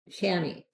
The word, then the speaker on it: chamois: I was curious if I could make a hat out of, it's spelled CHAMOIS. Sounds very French. Chamois, I would think it is pronounced, but we call it chamois.